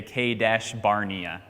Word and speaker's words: Kadesh Barnea: Now, it's actually not how you say it, but the American way to say it with our accent, we say Kadesh Barnea.